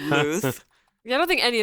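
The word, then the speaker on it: Luz: learned that that LZ Lu u z is pronounced Luth and I only know that Hebrew I don't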